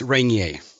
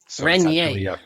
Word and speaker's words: Regnier: everybody messes that up it's rainier renye french sort of canadian last name yeah nice nice i